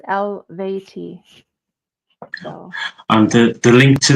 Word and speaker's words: Eluveitie: Oh, Eluveitie, spelled Eluveitie, pronounced Eluveitie.